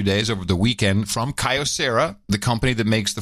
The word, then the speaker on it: Kyocera: this is a Kyocera or Kyocera how you pronounce it pretty big company so I like that sky Dussehra it is Kyocera yeah now I think these prices are too